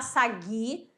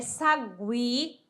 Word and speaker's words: sagui: do U né aguentar Sagui Sagui eu não vou falar Sagi é Sagui tranquilo tranquilo diferente ó